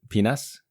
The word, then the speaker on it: PNAS: Great journal or PNAS, I believe you like to pronounce it penis.